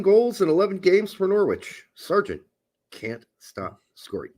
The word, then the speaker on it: Norwich: in 11 games for Norwich Sergeant can't stop scoring did I say it right norch nor nor you don't pronounce W's so I saw I